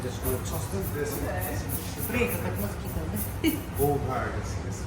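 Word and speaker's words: Auld Hag: Have you been to a Scottish cafe called Old Hag? No. It's spelled AULDHAG.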